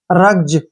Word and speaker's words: rugs: जैसे नेक्स्ट है RUGS, रग्स नहीं पढ़ना है, रग्स है ये, क्या है? रग्ज, रग्ज।